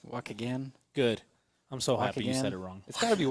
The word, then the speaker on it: Waukegan: It's Waukegan. Waukegan.